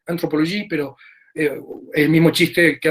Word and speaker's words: anthropologie: Hay una nueva antropología, en algunos casos se va a hablar de entropología, en francés se pronuncia igual, anthropologie, pero el mismo chiste